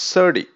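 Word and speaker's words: SerDe: what is s/e rde it is pronounced sir d and how sturdy is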